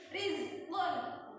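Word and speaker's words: رزقا: Nah, bacanya tipis, jangan ri. Langsung senyum aja. Rizqan.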